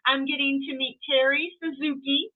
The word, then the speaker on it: Suzuki: getting to meet Terry Suzuki like the motorcycle we were just talking